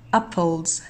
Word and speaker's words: apples: Apples، هل تنتهي نطقي لهذه الكلمة بالحرف الـ S أم الـ Z أم الـ I Z؟ Apples، إذن هنحط تك على حرف الـ Z.